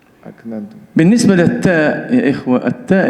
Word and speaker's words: أكننتم: Pada kalimat aknantum ini huruf kaf yang bersifat hamas dan disukun berada di tengah-tengah kata. Prakteknya atau pengucapannya ini betul-betul butuh keahlian. aknantum.